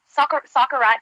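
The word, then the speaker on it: socarrat: Soccerat. How do you say it? Yeah, soccerat. That's right.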